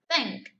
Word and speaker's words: think: En este caso, the word is think.